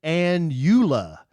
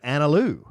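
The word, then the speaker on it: Analu: I don't know why, but for some reason people try to pronounce it an Uula instead of Analoo, just like it's spelled, but the DMV pronounces it anal u.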